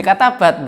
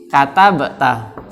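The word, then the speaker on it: كَتَبْتَ: Kalau konteksnya itu adalah sedang membicarakan di depan anta, berarti jangan dirubah menjadi katabat begitu. Harusnya kita membacanya apa? Katabata. Kan fa'alta.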